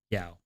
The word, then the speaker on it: Yao: It's pronounced Yao.